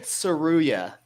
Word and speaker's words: Tsuruya: So you pronounce it then. Ray Tsuruya. All right, Tsuruya. That's way better than what I said.